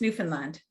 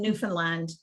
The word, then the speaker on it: Newfoundland: new finland to me i always have its newfoundland and it's not it's new no no it's newfoundland yeah understand my friend from newfoundland hammered this into me because i used to pronounce it the same and now i can't even mispronounce it she said understand it's newfoundland oh okay there's a good